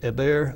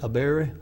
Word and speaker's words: Eber: And keep in mind the pronunciation, Eber, Aberi.